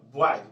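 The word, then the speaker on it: boys: फिर देखिए वाई है, इसमें है वाई, वाई के बाद एस लगा तो इसको पढ़ते हैं ज, बॉयज, बॉयज मीन्स लड़के।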